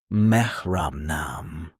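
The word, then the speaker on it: मेरा नाम: In Hindi, you say, Mera naam. Hi. Pronounced Mehra naam.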